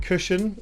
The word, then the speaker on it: CuSHan: of cushion I mean I call it cushion as in cushion but that's just me